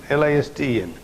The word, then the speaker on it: listen: His pronunciation will be listen. So this T will not come in pronunciation.